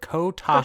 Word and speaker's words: Kotaku: I don't know why I can't pronounce that word. Kotaku.